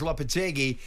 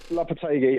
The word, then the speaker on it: Lopetegui: After Pellegrini, Moyes, Lopetegui, is Potter the man to bring style and substance to West Ham?